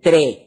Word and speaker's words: tres: So one of his famous lines is uno, dos, pronounced that way, tres, without final S, cuatro, dale.